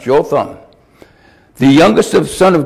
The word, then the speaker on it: Jotham: and i looked up the word how to pronounce joe thumb the youngest of son of gideon escaped death